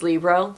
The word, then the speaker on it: Libro: I've been pronouncing it Libro cuz that's how I thought it was pronounced. It's not. It's Libro. Like Libra.